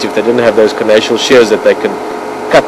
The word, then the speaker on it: carnassial: See, when she chews into that tissue, the skin and the meat, she uses their carnassial shears, or carnassial shears, I've also heard it pronounced like that.